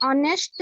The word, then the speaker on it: honest: एन बसुथिबो Mahima please Sir, Robin is an honest boy.